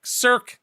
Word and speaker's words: cirque: you is it wait do you say circus sir cirque circle like cirque without the us okay cirque circ i